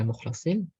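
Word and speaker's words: مخلصين: Riwayat pertama, innahu min ibadina mukhlasin, yaitu dengan kasroh di huruf shad, dengan fathah di huruf lam, menunjukkan bahwasanya ini adalah maf'ul yang terpilih, yang Allah pilih.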